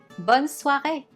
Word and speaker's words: bonne soirée: Notice how there is a little accent on the E. You will see this accent is called accent aigu. And you see it on a lot of words. When adding this accent, the pronunciation turns the letter E into A.